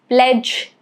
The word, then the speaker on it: pledge: Rule is D is silent before N or G.